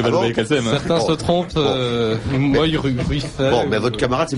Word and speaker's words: Moy-Ruifey: Rouge et le Noir, donc en l'occurrence Karl Moy-Ruiffet. Bravo pour la prononciation. Oui, comment voulez que je dise Ah je ne sais pas, mais enfin c'est plus facile à dire que Valbay Kassem. Certains se trompent. Moy-Ruiffet.